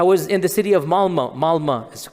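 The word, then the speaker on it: Malmö: And in Stockholm, if you have 10% Muslim, I was in the city of Malma. Malma is it's is spelled with an O but is pronounced Malma.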